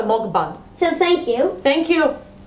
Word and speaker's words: mukbang: another story we are we're actually pronouncing M wrong mban that's why you been corrected says like from like hammock mock so mban so thank you thank